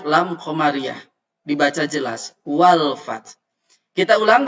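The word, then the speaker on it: فتح: Wal fath. Kita ulang bacanya. Idza jaa nasrullahi wal fath. Fath. Fath. Di ujungnya ada H. F-A-T-H. Fath.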